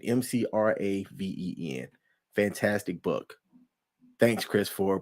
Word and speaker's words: McRaven: Yeah, McRaven, McRaven.